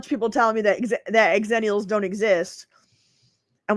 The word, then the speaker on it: Xennial: But yeah, I like Exennials better than Xananiels because they say X is pronounced Z, you know, but I'm like but I like it's a port manto. I want the two together. I want Gen X and Millennial pushed together and it's Xennial. That makes more sense to me.